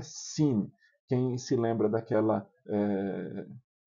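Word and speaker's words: שׂ: Aí você tem o shin, quando tem um um pontinho aqui do lado direito, shin, e quando ele tem um pontinho do lado esquerdo, é sin, quem se lembra daquela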